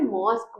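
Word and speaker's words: mosque: में क्या लगाते हैं ई लगाते हैं बट ई कैसा रहता है साइलेंट रहता है इसलिए हम इसको क्या बोलते हैं मॉस्क बोलते हैं मॉस्क क्यों नहीं बोलते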